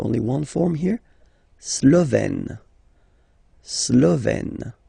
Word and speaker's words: slovène: Slovène. Remember, E accent grave, you open it, est.